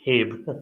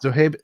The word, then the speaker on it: Zohaib: Zohaib, is that how you pronounce your name? Zohaib. I mean, Zohaib? not Habe. Zohaib, yes. Zohaib, nice to meet you.